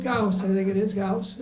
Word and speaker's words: Ghouse: Mark Ghouse, I think it is, Ghouse. I think I said Mouse, yeah, it rhymes with mouse, he said.